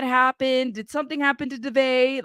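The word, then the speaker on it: Daveigh: Her name is Devay.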